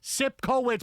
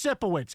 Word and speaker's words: Sipowicz: It's Sipowicz. Capital S-I-P-C-O. I know the C doesn't make any sense. Sipkowitz, but it's just Sipowicz.